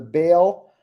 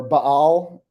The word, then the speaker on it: Baal: uh of pay our bail or Baal um however you want to pronounce it but all is probably the the better pronunciation but Bale is where we typically say it um and uh there's